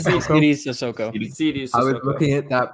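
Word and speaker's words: Sidy Cissoko: How do you pronounce it? Saidi Sissoko? Saidi Sissoko.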